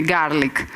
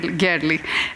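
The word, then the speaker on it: Görlich: I asked yesterday Axel how I should pronounce his name with these two dots. He said, do whatever, just don't tell me garlic. So Axel Gerlich.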